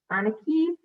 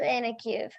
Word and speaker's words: Anakiev: move on to anakie i apologize for mispronouncing your name please my name is anakiev please say no to